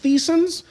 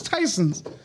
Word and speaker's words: Tysons: what's crazy for the longest time i called it like thiessen's because i don't know how you said it no somebody said yeah it's tyson's i was like what it was like yeah it's pronounced tysons yeah that's like i thought